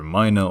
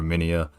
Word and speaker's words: Minea: before you comment on it you can actually pronounce it either Mina or minia it just depends on how you want to